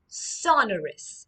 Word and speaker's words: sonorous: It's sonorous. All right, repeat after me. Sonorus. It's pronounced sonorus.